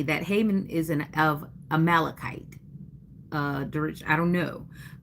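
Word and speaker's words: Amalekites: A dash I'm spelling it fanatic. Phonetic phonetically. A- m a l e d- k i tes. Anybody still like kites? You know, fly the kite, take a kite.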